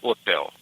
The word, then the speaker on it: hotel: but you just say hotel you just don't pronounce the age as a you know like Hotel you just say otel okay otel yeah I like that when that's